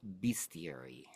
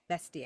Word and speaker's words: bestiary: Yeah, but that's not how you say it. That's not the proper way to say it. It's bestiary.